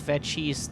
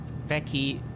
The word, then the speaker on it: Vecchi: the ground outside of Vecchi's this morning. Vecchi. They pronounce it Vecchi, but we find that weird because that's Italian and that's not how it's pronounced, but like that.